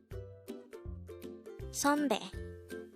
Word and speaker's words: 선배: word number 172 SBE SBE this is pronounced as a two syllable word the first syllable is son second syllable is be pronounce it with